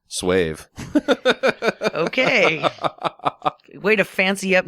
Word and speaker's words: Suave: It's You're talking about semen suave? from those gentlemen friend of his. It's phonetically pronounced Swave.